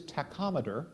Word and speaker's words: tachometer: go ahead and Define this the word is tachometer and it is a device for indicating speed